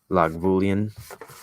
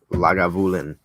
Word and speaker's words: Lagavulin: that Ron Swanson says which is usually log boolean but it's actually lager like Lagavulin not lock boolean which is a bit